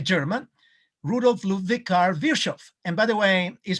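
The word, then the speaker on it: Virchow: one is a german root of love vicar virshov and by the way is pronounced virshav and vishov is a genius in medicine because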